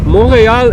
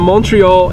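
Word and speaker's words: Montréal: Montreal is how the French-speaking people pronounce it, and Montreal is the English-speaking variant.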